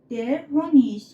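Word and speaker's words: der Honig: ختم میشن مثل درهونیش درهونیش یعنی عسل بچه‌ها اینجا گ تلفظ ش هستش درهنیش درهونیش میشه عسل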